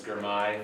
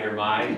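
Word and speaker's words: Girmay: My name is Germai for those of you who have trouble pronouncing that. It's like my guy Germai if that helps. Uh Germay.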